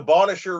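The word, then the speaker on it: Bonnechere: nowhere yeah it's awesome yeah how do you pronounce that River that's the bonisher river and I live in pikwakanagan which is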